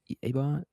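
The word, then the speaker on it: Ebon: Is it Abon Iban? Eban Eban.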